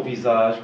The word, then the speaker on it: visage: Alors, on a vi, sa, je. Vi, sa, je. Mais on prononce visage.